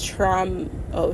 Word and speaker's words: Troma: trma I think it's traum oh traumo like trauma almost yeah nagmo I think